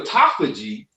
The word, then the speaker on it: autophagy: for me brother sean a-u-t-o-p-h-a-g-y okay i'm gonna put it in the chat when this is separated it's called phagy when it's together it's pronounced autophagy so phagy means eating